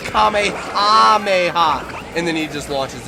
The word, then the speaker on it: Kamehameha: And they said Kamehameh. Okay. They they say Kamehameha, but when when Gohan was teaching it to Goten, he misheard it.